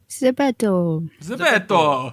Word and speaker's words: ZEPETO: It's like the guy from Pinocchio. Zepeto.